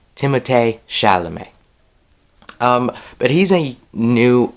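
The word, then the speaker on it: Timothée Chalamet: shalam now I know when you look at it it sounds or looks like it says Timothy shalam um but you actually pronounce it timate shalam um but he's a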